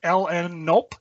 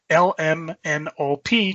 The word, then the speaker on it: LNNOP: My friends pronounce it LN-nope, just to be funny, but usually I just say LMNOP, just like the alphabet song.